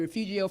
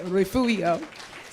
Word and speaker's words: Refugio: pronounce your name correctly I've been calling you Refugio for five years and you never correct me and my friend told me that is not how you pronounce his name so let's give it